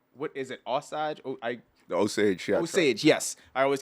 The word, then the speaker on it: Osage: The Osage, yeah. Osage, yes. I always get the pronunciation mixed up, but the Osage joke murders is a serious.